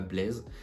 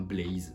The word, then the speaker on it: Blaze: savez pas c'est pas Blaise ça se prononce comme le monstre dans minecraft c'est un blaze je pense que j'ai